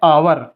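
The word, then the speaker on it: hour: तो लिखा है लेकिन इसे हावर नहीं पढ़ेंगे इसका सही प्रोनंसिएशन होता है आवर इसे आवर पढ़ेंगे तो हमने यही बताया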